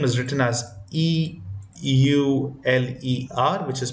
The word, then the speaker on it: Euler: out it was found by a mathematician called Euler is a name is written as e u l e r which is pronounced as Euler in general is a famous